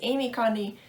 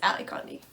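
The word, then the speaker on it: Ally Condie: talked about this and i did say her name was amy connie but it's not it's ali conde um the next book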